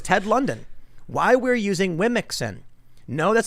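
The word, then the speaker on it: womxn: e so it's pronounced they say it's pronounced like woman but come on let's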